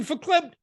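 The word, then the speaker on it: verklempt: You got to put your hand up here on your pearls and go, I'm getting verklept. And you got to kind of bring your lips together. Verklept.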